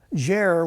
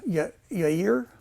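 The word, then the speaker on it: Jair: look at okay uh jer which in Hebrew is yer okay or year it means he will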